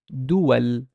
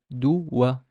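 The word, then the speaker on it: دُوَل: But here, there's a fatha on the waw, so no, I cannot pronounce it as a long vowel. I'd pronounce it as dual, duwa, dual.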